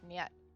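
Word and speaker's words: нет: Okay, so you say it like nyet.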